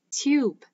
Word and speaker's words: tube: e this word becomes tube the short sound of the vowel is changed to its long sound don't forget that e is silent the magical e sits